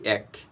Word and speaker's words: এক: সত্য আমরা হয়তো অনেকেই আছি যে এই এক উচ্চারণ করতে আমরা অনেকে এক বলে ফেলি এক ছোট থেকে কিন্তু আমরা এক শিখেছি এক দুই তিন এক বলেছি কিন্তু কখনো এক উচ্চারণটা হবে না এটির প্রকৃতি উচ্চারণ হচ্ছে এক তাহলে এক এর পরে যদি আমরা একটা ট